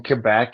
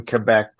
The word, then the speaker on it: Quebec: their nickname is because like montreal is in quebec and then the early quebec settlers were called habitants did you say seiko